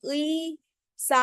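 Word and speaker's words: 의사: उई, उई तब प्रोनाउंस होगा जब वो फर्स्ट प्लेस पे आएगा with ईयंग, otherwise it will be pronounced as ई. तो ध्यान से देखेंगे, अगर ये उई सा है तो हम इसको उई सा बोलेंगे. उईसा मीन्स व्हाट?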